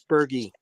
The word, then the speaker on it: Bergey: whole let's bring him on right now Bergie Bergie I'm not sure which way to pronounce it you tell me and we'll we'll get started from there oh good morning Michael it's Bergie Bergie okay all right well thank you for